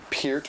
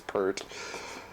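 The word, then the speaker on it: Peart: here and you know Pier or per however you prefer to say his name the correct way is p but everybody says per great drum solo by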